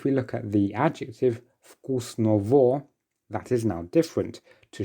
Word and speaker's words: вкусного: And just again to remind you, the letter G, very often when it's between two vowels, it will be pronounced as a V.